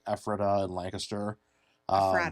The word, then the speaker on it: Lancaster: Lancaster. Lancaster. Yes. Not Lancaster. People get very angry if you say that incorrectly.